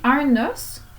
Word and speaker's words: os: On dit un os, des os. Au pluriel, on ne prononce pas le S ici.